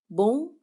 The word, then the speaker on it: bom: Good morning in Portuguese is bom dia, bom dia.